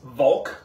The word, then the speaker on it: Walch: bouncing up to Elena Volk the lovely lovely ladies of Elena bulk which yes her name is Elena and it is pronounced Volk like a v um the family is historically Austrian so you know German